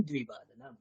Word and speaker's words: দ্বিবাদনম: মানে মোটামুটি দুই বলছি আমি, দুই ও বলছি, দি আছে দ্বি।